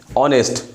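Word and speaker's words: honest: जैसे हम लोग आवर, HOUR, तो आवर एच साइलेंट होता है तो आवर, तो एन आवर, एन आवर होता है ना। ऑनेस्ट, एन ऑनेस्ट होता है, ऑनेस्ट मान के लिखो ऑनेस्ट, तो ऑनेस्ट में होता है एन ऑनेस्ट।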